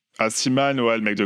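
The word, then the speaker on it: Aciman: Comment ça se prononce? Asiman. Asiman, ouais, le mec de Call Me By Your Name.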